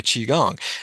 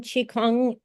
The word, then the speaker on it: qigong: I started incorporating it into my qigong and some of my qigong moves as I do it.